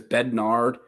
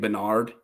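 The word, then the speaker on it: Bedard: well oh well B I think he said it was bednard and I'm saying Bernard um oh well I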